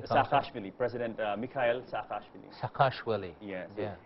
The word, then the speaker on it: Saakashvili: How do you pronounce his name? Saakashvili, President Mikhail Saakashvili.